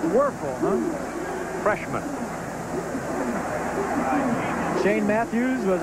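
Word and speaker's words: Wuerffel: eel might as well get used to it pronounced worful huh freshman Shane Matthews was a three-year starter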